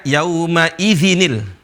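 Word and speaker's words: يومئذ: Di sini ada perpindahan harokat ya. Ya. Seharusnya zil. Nah, tapi para ulama bacanya yauma idzinil. Cara bacanya begini. Yauma idzinil.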